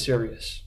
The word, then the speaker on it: Sirius: Hello everybody and welcome to Sirius. I'm the lead developer, Thomas Ballas. So what is Sirius? Well, the name itself is the phonetic pronunciation of the original project name's acronym. It started out as SRS, which stood for the Steganographic Relay System.